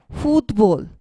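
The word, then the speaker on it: fútbol: here again and then food bowl food bowl the stress is placed on the o because it has accent mark over it means food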